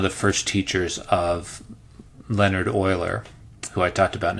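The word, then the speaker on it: Euler: being one of the first teachers of Leonard Oiler who I talked about in a different video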